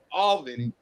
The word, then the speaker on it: Albany: That's how it's pronounced, Mike. Albany.